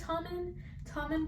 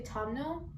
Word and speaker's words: Tommen: For some reason, I want to say Tomno because of like Louis' nickname, but it's Tommen.